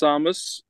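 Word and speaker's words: Tsamis: um an O2 yeah um pronounced Samus it is really I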